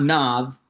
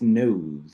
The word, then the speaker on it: Knoth: But it's not Nov, it's Knoth.